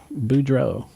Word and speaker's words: Boudreau: So we'll be back with more Boudreau.